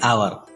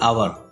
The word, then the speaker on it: hour: An ant, an enemy, an ice cream, an orange, an umbrella, an hour. Notice the word hour. As H is silent here, hour starts with a vowel sound.